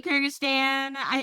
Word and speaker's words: Kyrgyzstan: Kyrgyzstan. Okay, thank you. Sorry, Kyrgyzstan.